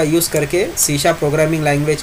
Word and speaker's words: C#: तो सी sharp is pronounced as सी sharp, okay. ये sharp यहाँ पर ये सिंबल दिया हुआ है, उसका प्रोनाउंसिएशन शार्प इस तरह करेंगे हम, सी शार्प, ठीक है।